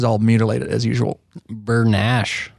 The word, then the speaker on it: Bernaiche: mutilate it as usual bernash Bern Nash it ain't spelled like that no we always call